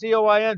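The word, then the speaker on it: Du Quoin: It says That Magic Mile, the National Championship at DuQuoin. That's Quoin, but it's pronounced Coin. DuQuoin, from 1948 to 1970.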